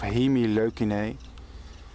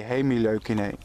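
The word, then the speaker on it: Hemileucinae: from the subfamily of he me low kanay I should say hey me low kanay which is the correct pronunciation what's remarkable about this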